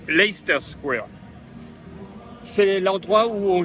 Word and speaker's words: Leicester: là sur le cinéma nous prenons le lait et la fin stère le milieu on ne le prononce pas donc Leicester Square c'est l'endroit où